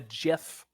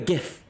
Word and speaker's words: GIF: know like see my my logic is this like sure GIF are the first letters in gift and that does have a a hard G I'm pretty sure I'm getting my soft and hard G correct here um that's true but I think there is a word that is closer to GIF than gift and that's the word gin as in gin and tonic that's like